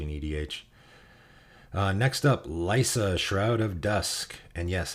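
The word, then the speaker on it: Liesa: edh uh next up lysa shroud of dusk and yes it's pronounced lysa as in lysa aaron from game of thrones not lisa or liaison or whatever lysa shroud of dusk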